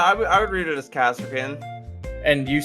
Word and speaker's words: Kasrkin: Actually, Ben, Mahia is the actual pronunciation because it's like Mexico, Mahia. Yeah. it's Kasserkin. Yeah, I would read it as Kaserkin. And you said Karskin, Connor.